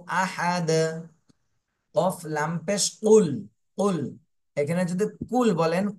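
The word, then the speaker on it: قُلْ: হয়ে যাবে এজন্য এখানে কাফ বলবো না আমরা কফ গলার মাঝখান থেকে উচ্চারণ করব কফ কফ লাম পেশ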